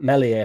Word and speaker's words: Meslier: And it was definitely a dig at Melier from from last year and the issues that he had last year. Luckily, it was Perry Perry that conceded five goals against Arsenal and not melier silent s because if it was